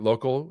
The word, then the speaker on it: Lokal: am I pronouncing it local are we just changing the C to K or is it are